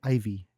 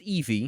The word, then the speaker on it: Ivy: I thought it was Ivy. It's pronounced Eevee.